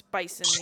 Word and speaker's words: bison: It sounded like you were saying a V. It's bison.